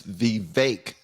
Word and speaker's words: Vivek: It's Vivek is how Vivek pronounces his name.